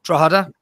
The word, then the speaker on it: Drogheda: I think Drogheda, that's how you pronounce it, by the way, are an Irish side who were thrown out for the same reasons.